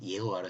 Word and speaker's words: 예호와: 자를 같이 써죠 예 그렇다고 예수를 여수라테라스 여호와로 발음하는게 좀 더 그 히브리어와 가까우니까 저는 그냥 예호와 썼습니까 그러니까 그거 그렇게 이해해 주시면 되는 거예요네